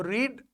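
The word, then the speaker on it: read: बोलेंगे रेड ठीक है तो रीड जब हम फर्स्ट फॉर्म बोलेंगे और जब सेकंड फॉर्म या थर्ड फॉर्म प्रोनाउंस करेंगे तब हम बोलेंगे इसको रेड अब आप देखिए एक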